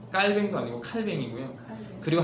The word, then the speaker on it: 칼뱅: 루터 그다음에 칼뱅 원래 비는 영어식 발음이고 본토 발음은 칼뱅 칼 칼 칼 뱅도 아니고 칼뱅 이고요 그리고 한 명이 빙글 사람이에요